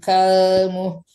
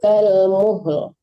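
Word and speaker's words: كَالْمُهْلِ: Yauma takunus sama'u kalmuh. Enggak terang alamnya, Ustazah? Harusnya terdengar. Ya, yauma takunus sama'u kalmuhl. Muhl. Ada lo-nya ujungnya ya.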